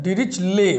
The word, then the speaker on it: Dirichlet: Discontinuity of डिरिचले, DIRICHLET, टी का उच्चारण नहीं होना है ना, डिरिचले।